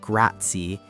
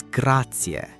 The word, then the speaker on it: grazie: Graatia. But here's the thing, the pronunciation is so important. It's not grati, it's gratier. You really want to pronounce that e sound at the end.